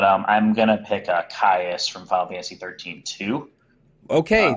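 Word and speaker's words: Caius: IU s okay so so it would be like the Roman chaos okay so uh so what Drew you to kaiis he's honest honestly one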